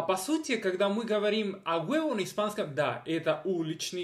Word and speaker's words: a huevo: Для тех, которые не говорят по-испански, хотя на испанском языке это произносится как «a huevo».